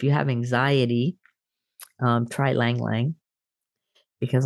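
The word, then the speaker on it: ylang-ylang: sleep but if you have anxiety um try Lang yang because ylang ylang oil which is spelled y-l-a-n-g-y-l-a-n-g that oil that essential oil is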